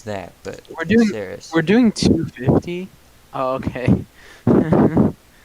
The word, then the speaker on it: Saris: Have you ever heard of the word Sarissa? Just get rid of the Issa and that's how you say Saris.